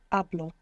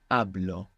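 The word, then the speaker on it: hablo: two them to speak to speak began with a silent h i don't know if you remember this verb good so how do you say I speak ablo ablo how would you say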